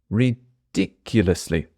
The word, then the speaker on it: ridiculously: stuffed last time ridiculously I'm going to add a bit of stress to this word and the stress is on the second syllable ridiculously ridiculously I'm saying I was